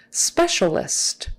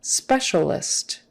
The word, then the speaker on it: specialist: for that m spasm specialist specialist the cia in the middle the sounds the letters cia are pronounced as an sh like an sha sha specialist specialist uh